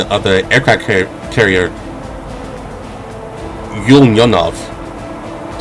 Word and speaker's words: Ulyanovsk: Ulyanovsk. So, U L Y A N O V. Ulyanovsk. That's how I pronounce it.